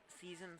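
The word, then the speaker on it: Sison: Another substitution for South Elgin, number 2, Victor Season. Season spelled like season is.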